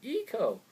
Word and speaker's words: Ico: I know people are like Eco. Don't pronounce it I like I. You're retarded. Eco. I don't care. Ico and Shadow of the